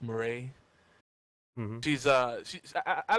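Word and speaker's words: Moretz: I believe her last name is pronounced Murray.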